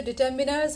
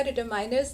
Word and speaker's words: determiners: एक तो डिटर्मिनर्स होगा, डिटरमाइनर्स नहीं होगा, और बोल होगा, बाउल नहीं होगा।